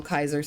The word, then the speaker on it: Caesar: I noticed that and I was like, he would for sure know how it's actually pronounced. I I really liked that they made him call or call Kaiser Caesar instead. This game's so smart.